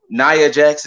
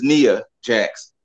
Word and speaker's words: Nia Jax: on the wwe side naya jax is nia jax it sounds like cornette